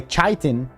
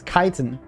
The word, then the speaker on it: chitin: Today's word kiten actually pronounced with a k. Some people might say chitin but it's not. It's kiton.